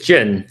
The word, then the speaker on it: Jian: How do you pronounce it? It's Jin, so you're close.